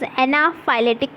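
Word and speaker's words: anaphylactic: मैं ये स्लोली इसलिए प्रोनाउंस कर रही हूँ so that you can just get द pronunciation. Okay, it is anaphylatic shock.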